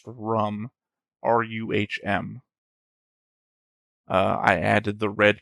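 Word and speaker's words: Ruhm: I think it's actually pronounced rum.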